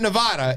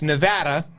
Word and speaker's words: Nevada: near Arizona the great state of Nevada which is not Nevada it's Nevada that's how they say it there make sure you get